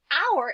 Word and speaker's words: our: love our new home so our is really tricky we see that oh you and it's the ao sound at the beginning of a word so our new snap